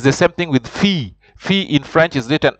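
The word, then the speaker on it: fille: there uh follows an eye you have to pronounce them like a y so he says it's the same thing with fee fee in French is written f i double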